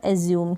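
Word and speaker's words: assume: फिर यहाँ पर ट्यून हो गया, ट्यून, और एज्यूम। क्या हो गया? एज्यूम। तो यहाँ पर एंड में जो ई आ रहा है इसका प्रोनाउंसिएशन नहीं हो रहा है।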